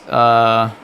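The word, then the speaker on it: を: And then there is O, which is just, even though there's like a W, you're not supposed to pronounce the W for some cursed reason.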